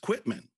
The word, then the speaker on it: Quitman: really clearly saw that it's one word and it's pronounced quitman, but I saw it as quit, man.